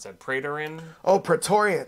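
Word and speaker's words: Praetorian: she's been hanging out with how do you pronounce that prian oh pretorian pretorian Jack right and he's showing her how to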